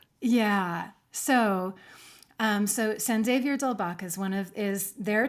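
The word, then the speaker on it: San Xavier del Bac: suppose this is the the Spanglish San Xavier Delbach. I mean that's a very that's a very English pronunciation. I suppose it would be like San Javier Dalbach. Yeah, I think that's probably true.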